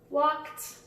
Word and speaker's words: walked: Walked. That's the one that we said earlier. That's another T one.